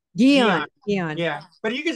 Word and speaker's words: Guion: pronounce it again oh Geon Dion Dion yeah but you can just go by I mean uh yeah it's really hard uh it's not hard yeah it's a French name so in America you